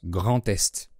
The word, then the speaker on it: Grand-Est: par un son voyelle, on fait la liaison avec un T, pas avec un D. En plus, l'adjectif grand fait partie de ceux qui se mettent avant le nom. Donc on prononce Grand Est.